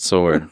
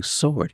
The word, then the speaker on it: sword: would run to that sword I got my and you know what I don't know if You' ever noticed this but Dad doesn't say sword he says sword the W is pronounced in this he said oh my